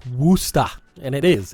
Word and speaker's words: Worcester: from twitch we have worcester is pronounced woosta and it is it's